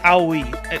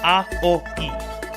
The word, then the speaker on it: Aoi: Yeah, Aoi. It's Japanese, it's A-O-I. Those 3 syllables shoved together. 3 vowel sounds is not like the easiest thing to pronounce to a native English speaker, but yeah, Aoi.